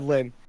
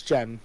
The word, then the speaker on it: Jen: pencil in the movie you said lynn it's jen yeah i'm stupid it's jen okay jen the main character yeah one syllable and yeah that's that's